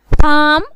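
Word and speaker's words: palm: फोक अवाम लोग फोक, हैव आधा निस्फ have, पाम खजूर हथेली पाम, साम जबूर हमदोसना साम, सैमन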